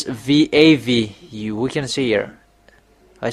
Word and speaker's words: Vav: end we see that uh expression this is Vav. It's V A V.